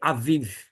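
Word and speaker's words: אביב: Vete é a palavra avif avif porque tem um Alf tem um sinal massorético e vai indicar o som da vogal a e seguido desse Vet com um pontinho embaixo seguido de um iode acima ou na na parte né Eh eh paralela de modo que a gente vai ter Aviv e Aviv significa o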